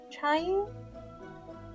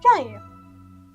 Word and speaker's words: Qiu: Oh, it's pronounced Chayu? Chayu. Okay. That's what Google says.